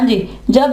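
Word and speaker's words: judge: हाँ जी, जब ये इकट्ठे हों तो जीम की आवाज देगा और वहां पे डी जो है वो साइलेंट पड़ा जाएगा।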